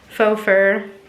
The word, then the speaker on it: faux fur: um it's got like faux fur rhymes with chauffeur but it's like for sure faux fur on there so i